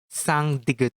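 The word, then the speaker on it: 쌍디귿: However, if it becomes double, it will become sang digut. This is read as da. One more time. Da, da, da. Or ta. One more time. Ta, ta, ta. But it's more likely read as ta.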